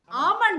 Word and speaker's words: almond: have spot on dear because L is silent in this world okay yes L is silent it's almond and not almond ah look at that